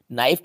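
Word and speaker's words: knife: नाइफ में देखो last में एफ ई है, तो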